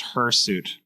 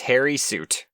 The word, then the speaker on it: hirsute: It might also be pronounced hirsute. Maybe both are applicable. I don't know. But it's not pronounced hairy suit. It's not. Yeah, Yeah, but it is hirsute.